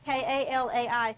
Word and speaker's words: Kalai: How do I say your name? K-A-L-A-I, so I say it right. Is it on? Yeah. Is it It's Kalai. Kalai? See, I'm glad I asked. Yeah, that's how you say it.